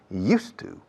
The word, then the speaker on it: used to: Y la pronunciación, used to. Recordad el monasterio de Yuste, cambiando la E a U.